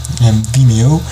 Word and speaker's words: Vimeo: How do you pronounce that? Vimeo.